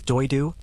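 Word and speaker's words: Дойду: The Saka word for homeland, Diedu in the Saka language, pronounced roughly as Doidu, carries connotations that go significantly beyond the simple territorial meaning of the English word.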